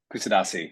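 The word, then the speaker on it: Kuşadası: Kusadasi.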